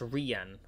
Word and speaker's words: Ryan: right by the way it's spelled Ryan but pronounced ran okay ran the ran